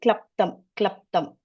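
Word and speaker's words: क्लृप्तम्: There is one word, it's called klaptam. So when you pronounce that, that's the la, you get it here. Klaptam. So tongue is touching just before the teeth.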